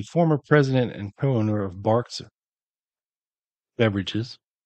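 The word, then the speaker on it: Barq's: So Ken Elliott was the former president and co-owner of Barks Beverages, spelled like Barks Root Beer, B-A-R-Q.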